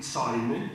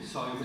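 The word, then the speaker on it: Seume: El autor de dos de esos libros, Johann Gottfried Säume, Säume se escribe S-E-U-M-E, hace un análisis despiadado de las estructuras feudales y absolutistas.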